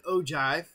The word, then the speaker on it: ogive: Well, for one, it's not an Ogive, it's an Ogive, that's how you pronounce it, and I just wanted to take